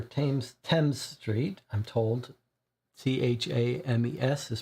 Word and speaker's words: Thames: at 26 upper Thames 10th Street I'm told t-h-a-m-e-s is pronounced Thames South work Bridge London October uh August 23rd 1888 that's our current year 1888.